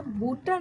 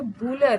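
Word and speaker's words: Bühler: रही थी, तो मुझे लगा कि ये बूटल नहीं है, ये बूलर है। तो मुझे लगता है कि मैं ही सही हूँ, क्योंकि मैंने कुछ यूपीएससी के भी टेक्स्ट बुक में बूलर यानी यही उच्चारण पढ़ा है।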